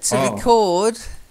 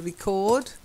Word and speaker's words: record: record numbers rap/rock yeah record to record is the verb but when you're using record or as a noun or as an adjective